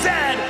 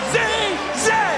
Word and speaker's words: zed: And it is pronounced Zed, not Z-Z.